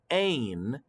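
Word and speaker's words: -ane: focus on refers to a n e or pronounced ain and ain represents all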